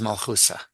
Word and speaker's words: Malchusa: Malchusa, another part of translating Hebrew Aramaic into Yiddish pronunciation is that you have to distinguish a saf and a taf, and this is Malchusa. Malchusa.